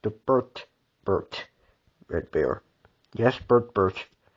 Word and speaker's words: Bert: Yes, Bert. I used to say Bert Bear, but that was a mishap. I actually mispronounced his name.